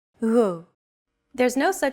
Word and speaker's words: Γ: This character isn't pronounced using an English G sound at all. Γ. It's like a very soft, continuous, and loosely held G, almost as if you're gargling, but don't make it sound too throaty.